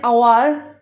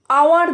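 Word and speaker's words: hour: যেমন give them an আওয়ার they will finish the work আওয়ার দেখো যদিও এটা শুরু হয়েছে ওয়ার্ডটা এইচ দিয়ে কিন্তু এইচ এর উচ্চারণ হয় না তো সুতরাং এসব ক্ষেত্রে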